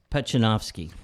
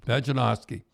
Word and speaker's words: Pejcinovski: Now, how do you pronounce that name, Tim? Pejcinovski. Pejcinovski.